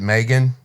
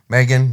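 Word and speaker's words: M3GAN: that's the picture uh I guess you pronounce it Megan it's M3 gan Megan that's my sister's name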